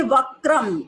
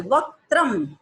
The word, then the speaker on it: वक्त्रम: कई लोग बोलते हैं वक्रम, वक्रम नहीं है, क में त्र की मात्रा लगी हुई है, वक्त्रम उच्चारण करेंगे।